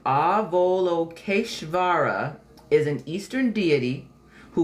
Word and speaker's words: Avalokiteshvara: All right, so it's pronounced Avalokiteshvara, is an Eastern deity who watches over the world and hears all prayers.